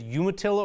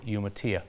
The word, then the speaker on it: Umatilla: there were many rocks I bet spanish-speaking people would pronounce it no Mattia all right that is one that I have mangled over the years you heard dr. Tom Noel say say Umatilla I know I've said you Atilla over the years and obviously he points out that other people linguistically correct would say you Mattia huh that's interesting another